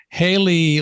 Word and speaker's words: Haley: talk to her mom, and sometimes her mom pronounces it Hallie Cooper. But and my computer, by the way, with JAWS pronounces it Hallie, but I'm smart enough to know that it's really Haley.